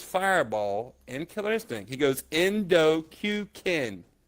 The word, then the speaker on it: Kuken: is Jay goes fireball interesting he goes endo q king q King right it's not hard just look